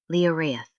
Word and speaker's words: Lioraith: So my official submission is a safety reflex system, an operating system pronounced Leorth.